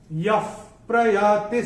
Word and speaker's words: यः प्रयाति: अक्षर है प, और विसर्ग के बाद जब प या फ आता है तो विसर्ग का उच्चारण होगा फ। जैसे फूंक मारते ना फ, वैसे उसका उच्चारण होगा। तो इसको हम अपनी किताब में विसर्ग को स्ट्राइक ऑफ करके ऐसे फ लिख के रख सकते हैं। यः प्रयाति समद्भावम्, यः प्रयाति ऐसे करके आएगा।